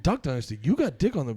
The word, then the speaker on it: Duck Dynasty: They look like the young Dick Dynasty guys. Why are we both saying it weird? Dick I Dynasty. said it right. You said it. You said Dick Dynasty. I said Duck Dynasty.